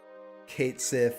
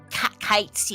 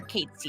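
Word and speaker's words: Cait Sith: That, Kate Sith has his fluffy Moogle. Actually, it's not pronounced Kate Sith. It's pronounced Kite C All right, or Kate C.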